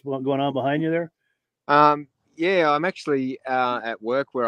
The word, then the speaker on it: Yea: YEA is, but you pronounce it Yea.